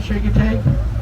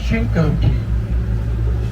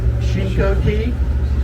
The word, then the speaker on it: Chincoteague: by the way you're the way I'm saying shake it take that's not it okay correct pronunciation is shinkoki everybody got that shingo tea that is an Indian word from the Accomack